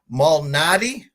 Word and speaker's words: Malnati: Well, I talked backstage and I asked you the pronunciation, which I'll probably butcher again. Malnati, correct?